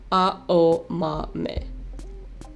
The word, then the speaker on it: Aomame: word for green peas, and pronounced with the same four syllables, A-O-Ma-Me.